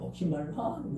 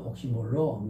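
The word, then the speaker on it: oxymoron: 영어 미국에는 옥시말론 그리고 영국에서는 옥시모론 그래요.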